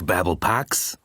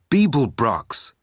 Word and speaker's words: Beeblebrox: You didn't complete your task, Babblepax, said Heimdall, jogging towards him. It's Beeblebrox, shouted the frustrated galactic president.